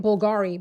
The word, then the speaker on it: Bulgari: I've been rocking with Bulgaryy fragrances and calling it Bulgari, by the way. Bulgary fragrances. I'm trying to remember to say it right.